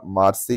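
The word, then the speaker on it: Marseille: दरअसल में दोस्तों नाम तो ऐसे लिखा जाता है पर इसको मार्क्से या मार्से के नाम से प्रोनाउंस किया जाता है।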